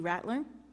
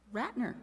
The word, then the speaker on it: Ratner: Thank you, Mindy Rattler, for that. Ratner, yes. Hey, Mindy. I know your name. I'm sorry I didn't say it right.